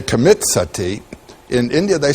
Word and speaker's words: sati: You know the word sati in Sanskrit it's spelled s a ti long i.